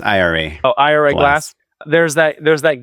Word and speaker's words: Ira: And I think there's a very famous, I hope I don't mess this up, Ira Glass. He does the I'm pretty sure it's pronounced IRA.